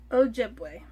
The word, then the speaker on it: Ojibwe: both in our hometown and on the nearby a jebby a job we i need to learn how to pronounce that and in our ojibwe language ojibwe so okay both her hometown and on the